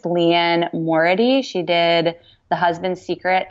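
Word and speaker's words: Liane Moriarty: I read both of, I don't know how to pronounce her name, but I think it's Leanne Morady.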